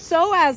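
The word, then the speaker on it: psoas: and I was like it's so as muscle but it's spelled with a p because apparently the person that put that in the dictionary had a little you know a few too many and decided to put a p in front of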